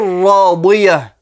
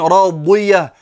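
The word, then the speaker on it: راضية: langue arabe, et notamment le dod qui a une prononciation particulière, qui n'est pas un D grave, mais qui a une prononciation et un point d'articulation particulier dans la bouche.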